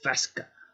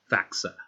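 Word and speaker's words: Faksa: Radical Fesca. Faxa. Sorry. Said it wrong.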